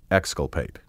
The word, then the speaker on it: exculpate: Synonyms of exonerate include acquit, absolve, and exculpate, also pronounced exculpate.